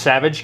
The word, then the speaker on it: Savidge: It's just Savage Kitchens. Savage Kitchen. Yeah. like it says up here above my head. Um, so not savage like being a savage, but spelled slightly different. Spelled like my last name.